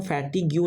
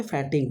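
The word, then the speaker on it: fatigue: then आपका word है फैटीग्यू जो थकान होता है फैटिक हम फैटीग्यू नहीं बोल सकते फैटिक बोल सकते ठीक है जो इसका प्रोनाउंसिएशन होता है फैटिक बोलता है ठीक है देन आपका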